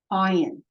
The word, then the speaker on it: Ayin: Ayin. Kamatz. Now remember, the ayin itself is silent, but it makes the vowel sound guttural.